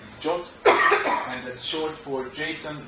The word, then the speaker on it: JWT: It's written as JWT, it's pronounced as JOT, and that's short for JSON Web Tokens.